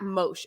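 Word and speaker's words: Mosheh: so it's m-o-s-h-e-h at mosh you pronounce it mosh but m-o-s-h-e-h h um and he's amazing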